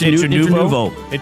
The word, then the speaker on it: Intranuovo: Ralph Intranuovo It's Intranuovo.